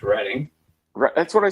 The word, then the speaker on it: Reading: Like, so if I'm ever in Reeden, Massachusetts, is that like a must. Let's pronounce it correct. Reading.